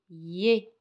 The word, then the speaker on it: es: je parle avec quelqu'un je me dis tu es se prononce et et elle l'écrit e s il